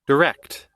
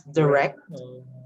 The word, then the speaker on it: direct: Direct. Okay, so you can use direct or direct. Direct. If you take a look at this, the first one, you have the E, so direct.